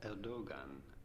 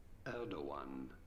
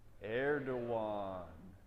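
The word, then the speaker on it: Erdoğan: president of Turkey how do you go about pronouncing his name no it is not erdogan but rather Elder one Elder one other one president of Turkey he say it with me now one two three erdogan all right cool you got it you just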